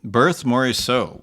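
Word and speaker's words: Berthe Morisot: so yeah well-known uh uh impressionist painter uh berth moris so yeah so taking on a birthy so where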